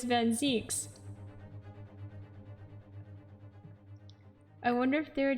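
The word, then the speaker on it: van Zieks: Wait, originally I said it was Van Zykes, but then someone said that it was Zeeks instead. Because originally I would have thought to pronounce it Van Zykes, but somebody who was German told me it was Van Zeeks.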